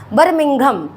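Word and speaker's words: Birmingham: बात करें तो बिम बर्मिंघम बर्मिंघम ठीक है थोड़ा सा प्रोनाउंस करने में प्रॉब्लम है बर्मिंघम ठीक है अभी यह क्लियर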